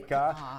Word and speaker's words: Rehka: used to associate it with raking, the art of raking. Okay. Rehka.